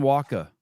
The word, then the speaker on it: Walka: So, if you're really pronouncing it right, we'd say the W like a V.